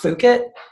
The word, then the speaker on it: Fukitt: One of the ways I do that with the brand, even though it's pronounced Fukitt, I'm pretty sure it's persuading you to say fuck it more, right?